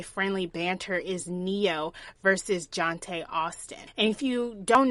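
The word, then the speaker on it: Jonté: It's spelled Johnt and then an A with an accent dash on it. So it's Jonte. It's so nice.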